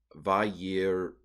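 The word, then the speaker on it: וַיִּירְאוּ: So this is probably a vocal schwa. So it would be vayira'u.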